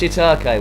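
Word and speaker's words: shiitake: to uh Oleg scam it's pronounced shitake well I yeah well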